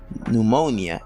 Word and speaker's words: pneumonia: english does not allow the ps pt and pn sound therefore the p sound is silent another thing i want